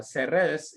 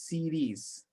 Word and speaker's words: Ceres: They are very impressed, and they just one thing, she's not Ceres, she is Ceres. Okay, Ceres or Ceres.